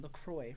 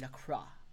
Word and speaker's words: La Croix: He's from France, and he told me I've been pronouncing LaCroix wrong. If I were to pronounce it in French, it would be La Croix.